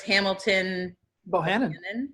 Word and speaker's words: Hamilton Bohannon: And it was Hamilton Bohannon.